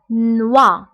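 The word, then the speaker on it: noix: بالنسبة لنوي كتعني ليل، فقلنا أن أو إي كتقرب و، دونك هنا نوا نوا. بالنسبة هنا إكس لا ننطقها، دونك نوا هو الجوز، نوا.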